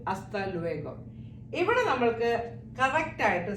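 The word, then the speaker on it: hasta: ഇനി നമ്മൾ എപ്പോഴും കേൾക്കുന്നതാണ് അസ്തലുഗോ അസ്തലുഗോ അസ്ത always started ആസ്ത ഡു not pronounce H H always silent just like A സി ഓല എച്ച് ഇവിടെ സൈലന്റ് ആണ് നമ്മൾ ഓ തൊട്ടാണ് സ്റ്റാർട്ട് ചെയ്യുന്നത് അതുപോലെ അസ്ത ലു എഗോ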